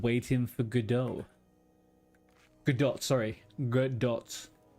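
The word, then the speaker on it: Godot: Is Gdot the uh the love is Gdot the love interest? Oh, wait. Actually, you're saying no tea. 100% no T. So, you're saying I was saying it right.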